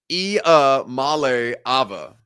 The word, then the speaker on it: Iamaleava: I'm Nico Iamaleava, and the correct way to pronounce my last name is Iamaleava. Iamaleava. Nico Iamaleava. Not too deep. Real easy. Phonetic spelling or phonetic pronunciation. Very simple for everybody involved.